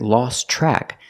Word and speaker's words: lost track: of time you're here with lost track that Tian lost is silent because it's between consonants so you hear lost track the TRN track is pronounced with the CH sound like chicken track lost track he lost